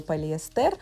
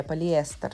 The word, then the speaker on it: полиэстер: что пали я говорил полиэстер что ударение нужно делать на и полиэстер спасибо большое я прислушиваюсь